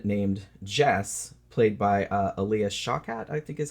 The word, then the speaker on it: Shawkat: And she has a best friend named Jess, played by Aaliyah Shawkat, I think is how you pronounce her last name, who for a second I thought was Natasha Lyonne.